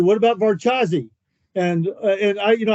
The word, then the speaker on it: Varchas: about varaz or no I said what about vazi and and I you know I pronounce it a whole and he goes Hey